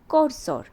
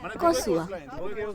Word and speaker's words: Korsør: আর এই জায়গাটার নাম হলো করসর। আসলে এটার ঠিক প্রোনাউন্সিয়েশন হবে কসুয়া।